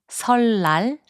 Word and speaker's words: 설날: 설날, which means Lunar New Year, is pronounced as 설날.